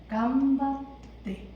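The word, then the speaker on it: 頑張って: 루만 빼고 간바떼. 간단하죠? 발음 어떻게 한다? 약간 때로 발음하셔야 돼요.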